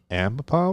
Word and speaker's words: Ambipom: Now, how do you pronounce that Ambipom. one? Ambipom? Because it's like ambidextrous.